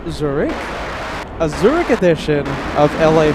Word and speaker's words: Zurich: I know I'm mispronouncing it, but here in America, it's Zurich.